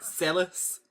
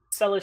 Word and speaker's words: Celes: Celeste. Say it again. Celis. Sounds like I'm fucking saying celery. I don't like it. So just pronounce it however you want, Lex. Yeah, I just say it Celis Cheret, so it sounds vaguely French to me.